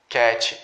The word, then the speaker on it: cat: Nós, falantes nativos de português, temos a tendência de colocar um i aqui no final e falar dog, cat, quando na verdade a pronúncia ela vai só até aqui. Ela não é intensificada, eu não tenho uma vogal intensificada ali no final.